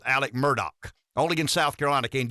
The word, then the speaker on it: Murdaugh: a fairly extensive debate yesterday Rev on the Murdoch trial now now it's spelled Alex murdahl it's pronounced Alec Murdock only in South Carolina can you get away